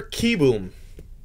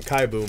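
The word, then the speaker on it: Kieboom: black is carter carter kibum i heard them i heard him pronounce his name in a in a game the other day i was really upset because i've been calling him kai boom forever that's all right michael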